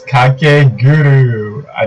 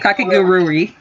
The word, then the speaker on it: Kakegurui: Yes, and it's Kakeguru. I think that's how you pronounce it. Kakegurui.